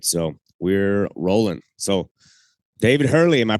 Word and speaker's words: David Hurley: it too all right so we're rolling so David Hurley am I pronouncing that right That's it man it's good